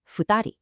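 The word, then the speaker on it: 二人: 2 people is futari, but 2 animals is nihiki. Notice how drastically the numbers completely change the pronunciation depending entirely on what it is you're counting.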